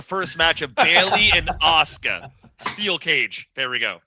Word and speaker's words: Asuka: All right, so we got 2 fantastic athletes, and Asuka. That's how you pronounce her name.